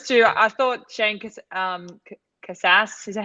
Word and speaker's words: Casas: old but those two I thought shank um Casas is that how I say it how do you say it yeah Cassis okay um I actually thought I was a